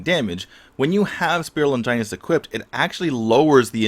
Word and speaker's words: Longinus: into play is with the item spear of Longinus and yes that's how it's pronounced so what happens is with Max's ultimate